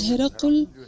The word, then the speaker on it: Hirqal: the questions is that I have said hirqal, whereas in Arabic the word is hiraqal. We are saying that hiraqal is not acceptable in Urdu, this pronunciation, and if I'm doing this in Urdu, then if I am going to mention hirqal, then I shall say hirqal, because that's the name by which the king is known in English.